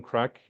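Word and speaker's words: craic: impression here folks so we'll we'll have some crack uh the location where loc world is is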